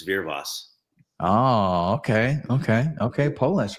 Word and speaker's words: Wyrwas: it right it's tough It's polish it's veros oh okay okay okay